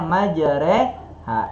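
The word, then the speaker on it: مجراها: Makanya kalau kita baca Al-Quran surat Hud, kita bacanya majreha.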